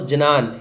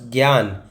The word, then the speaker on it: ज्ञान: तो जे एन और जी वाई, इट इज़ not pronounce जनान, it's pronounce ज्ञान। जे एन इज़ ज्ञा, ठीक है।